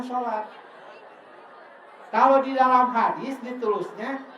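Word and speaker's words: صلاة: Seluruhnya tulisannya ditulisnya begini, assalawat." Asalawat tapi dibacanya salat.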